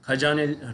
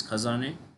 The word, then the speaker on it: Khajane: They came up with the idea of the khazana, even though it is khajane written here, but the ideal pronunciation of it is khazane.